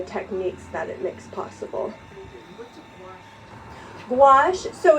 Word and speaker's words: gouache: techniques um and it is very similar to gouache but a traditional treat true gouache if you